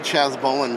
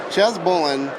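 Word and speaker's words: Chas Balun: to find some old Chaz bowan books but Chaz bow who's Chaz bowan so Chaz Fen bowan so I keep saying it wrong Chaz Bolan is famous for like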